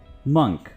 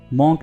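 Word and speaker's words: monk: मंक, इसको आपने मॉन्क नहीं बल्कि मंक प्रोनाउंस करना है।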